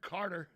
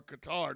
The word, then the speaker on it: Qatar: And hopefully, I've heard Qatar, or Qatar, depending on how you pronounce it, is maybe a viable option to help with the European oil crunch if they go off Russian oil.